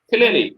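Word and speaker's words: Teille: Doesn't even sound like that. Tilly. It's French. It's French, mate.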